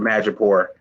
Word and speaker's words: Madripoor: When I heard it brought up, am I saying it wrong? Is this another one of my names on my hit list? No, you're saying it right.